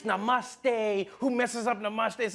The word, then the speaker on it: namaste: on like dude it's not namuste it's namaste who messes up namaste